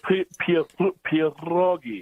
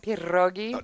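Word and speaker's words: pierogi: Can you roll your Can you roll your Rs art with the Peterogi? Of course they could. Pierroi.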